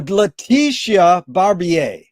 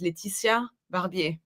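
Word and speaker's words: Laetitia Barbier: Uh, in in English I will pronounce it in American I will pronounce it Leticia Barbier, but I will not. My name is Leticia Barbier.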